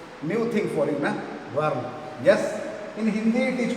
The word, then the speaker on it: whorl: Dear children, whirl you are moving. Whirl, see the spelling. W-H-O-R-L. New thing for you, na? Whirl.